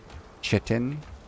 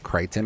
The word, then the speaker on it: chitin: I thought it was pronounced chitin. And I think the guy pronounced it Crichton or something like that.